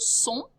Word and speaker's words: sont: Ils sont. Elles sont. You end with that nasal ho sound. Do not pronounce the T.